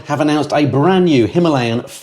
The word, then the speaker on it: Himalayan: announced the release of the brand new 450cc Himalayan or Himalayan as it's correctly pronounced uh what I'll do is I'll read